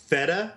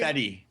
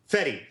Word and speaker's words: Fede: name was uh pronounced Feda or Fede. Fedi Fetti. Fetti Alvare. Fetty Alvarez. I kept thinking it was just Fed and you don't pronounce the other E.